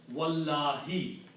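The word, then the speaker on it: والله: So for the qasam to happen, you have to change this dhamma to a kasra. And then pronounce as wallahi.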